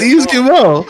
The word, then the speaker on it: Yves Guillemot: No, it was Yves Guillemot.